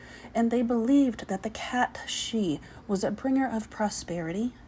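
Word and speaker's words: cat sìth: I'm curious, have any of you heard of the cat she? That is spelled S-I-T-H.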